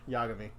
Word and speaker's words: Yagami: Yagami. Yeah, That's who you're going for. Do you want to know how I remembered how to say his name? no. Because it's backwards for I'm a gay.